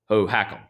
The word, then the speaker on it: Hohokam: Yeah, the Hohokam.